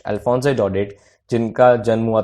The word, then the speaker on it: Daudet: जी हाँ, ये जो टी है ये साइलेंट है और ये है अल्फोंसे डॉडेट। अल्फोंसे डॉडेट जिनका जन्म हुआ था 1840 में, 1897 में इनकी डेथ हुई।